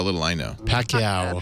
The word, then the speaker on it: Pacquiao: uh Mayweather uh uh Pico how do you pronounce his last name Pico uh shows how little I know Pacquiao Pacquiao Pacquiao Pacquiao and uh I actually just because